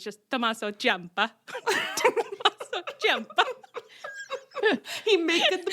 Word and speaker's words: Ciampa: We have a new man, and you're supposed to say his name, Tommaso Ciampa. Ciampa. Everyone is saying it really Ciampa. Chomper, like Chomper.